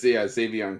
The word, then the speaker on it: Xavion: It's Xavion Curry. Odd spelling. Because you can get the Xavion without the Z, like Xavier.